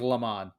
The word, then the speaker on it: Le Mans: that ever won the le mans le mans i think i it hasn't that's at the end of it but i'm depends on your accent i guess fairly serious pronounced lemon and that's what it